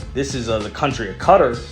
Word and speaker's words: Qatar: is the country of I believe pronounced cutter or Qatar out there in the